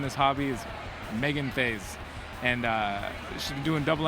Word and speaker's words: Theys: Did I say Theys, yes. I you said it right? I'm so... Everybody always says it wrong. So really? What do people say? They always say ties or thighs.